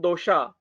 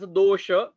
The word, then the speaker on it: dosha: We have to pronounce it as dosha, not the dosha. Vata, not as a vata. Pitta, not as a pitta. And kapha, not as a kapha. We have to pronounce it as our Sanskrit pattern, not the according to European style.